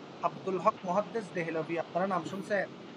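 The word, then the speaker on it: دہلی: দেহলভি না, এটা তো দিল্লির অনুসারে দেহলভি, কিন্তু যখন আপনি উচ্চারণ করবেন তখন কি হবে?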